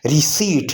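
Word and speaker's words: receipt: रिसीट, रिसीट में P silent है।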